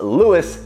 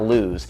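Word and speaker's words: Lewes: It is pronounced Lewis, not lose.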